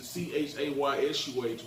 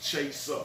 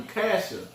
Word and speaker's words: ChaYsuh: So I changed it to CHAYSUH, which actually it's spelled how it's pronounced, ChaYsuh. Yeah, You know what I'm saying? Because I remember I used to talk to him. I used to call you Casher.